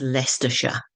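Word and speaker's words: Leicestershire: is the University of leester that's how it's pronounced and the county is lestershire so there you are you've leared how how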